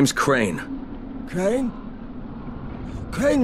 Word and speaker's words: Crane: name is crane okay crane rhymes with train and brain and saying and gray